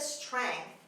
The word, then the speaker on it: strength: Strength. همه حروفش خونده میشه. Strength هم میتونید بگید، جی رو تلفظ نکنید.